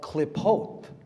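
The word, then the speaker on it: Qlippoth: It's called klipot, klipotic Kabbalah. Look up the klipot. It's spelled Q-L-I-P-P-O-T-H.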